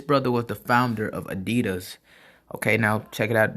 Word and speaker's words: Adidas: And he wondered whether Japanese shoes could do the same to Puma and Adidas, which were at the time extremely popular in America.